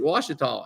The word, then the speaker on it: Ouachita: She gets home, she's watching one of our videos, and she goes, "Hey, you pronounced this wrong. I just got back from Arkansas, and they pronounced it Ouachita."